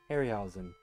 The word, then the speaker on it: Harryhausen: Yeah, I eventually got around to watching some more of a Harry, how do you pronounce his name? Harryhausen? Harryhausen.